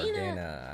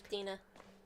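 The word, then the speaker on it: Daena: Back to the house of Danae. Dina, or Dana, I don't know how it's pronounced. No, it's Dina. Dina? Dina. Oh, I thought it was Dana.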